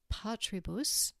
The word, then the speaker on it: patribus: three- syllable word changes so patribus needs to have the first syllable emphasized here's a newon noun